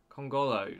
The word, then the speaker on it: Kongolo: colongo man i've got to remember how to pronounce his name kongolo there you go kongolo um but we just